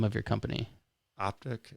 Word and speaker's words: Ahptic: what is the name name of your company optic it's spelled a-h-p-t-i-c okay yeah and is that based